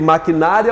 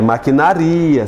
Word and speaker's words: maquinaria: Maquinária ou maquinaria? É maquinaria, se separa o I do A aqui, ó.